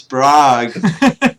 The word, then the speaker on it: Prague: It's Prague. Gosh. Well, however you pronounce it, thank you all for coming on the Badgercast.